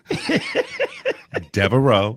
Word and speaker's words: Devereaux: Because Blanche up in here, Blanche DeVoe, Devereaux, or whatever that. How you say that? How you pronounce Devereaux? Devereaux.